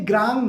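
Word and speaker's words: ग्रौं: ये ग्रोंग नहीं है, ग्रांग नहीं है, ग्रोंग है। कई लोग इसे ग्राम कहते हैं, या आप ऑंग का उच्चारण भी सही से कर लेंगे तो इसे ग्रांग कहेंगे। That is नॉट ग्रांग, that is ग्रोंग। जैसे बॉस कहते हैं ना,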